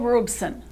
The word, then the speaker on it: Robeson: if the landing free Paul Robeson pronounced robe son a highly intelligent charismatic